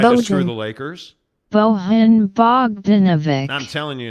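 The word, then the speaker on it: Bogdanović: Somebody years ago now was trying to tell us, hey, it's not Bogdanovich. And so we went to Google and did a pronunciation search. Bojan Bogdanovic.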